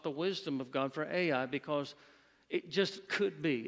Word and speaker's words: Ai: the one that's called Ai. We call it Ai because that's how you spell it, Ai.